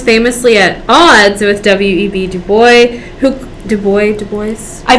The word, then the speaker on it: Du Bois: i think i think my professor in college said dubois okay so wb du bois if we say that wrong talk to a professor